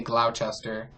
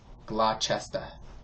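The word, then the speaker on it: Gloucester: a town of Massachusetts I wanted to say Glouchester and she was like are you saying glochester it's something like she said if you really want to say it right it's glester or something glester I don't know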